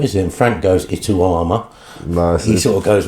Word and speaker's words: Itauma: Just how special for the whole Itauma family is this night going to be on the 28th?